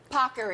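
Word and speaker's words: paccheri: as the Today Show team made sure I pronounce properly pocker we have our Italian so we want to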